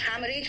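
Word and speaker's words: haemorrhage: हैमरेज में second H silent है।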